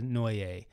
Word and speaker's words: Neue: get used to using helvetica no or helvetica new if you want to pronounce it new either way works so this is a